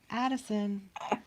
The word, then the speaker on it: Addison: Addison. Rhymes with Madison.